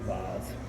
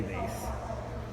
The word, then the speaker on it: vase: Yes, I pronounce the word "vahz"; I don't say "vayss". When one is in China, where there are Ming vases, surely one must say "vahz".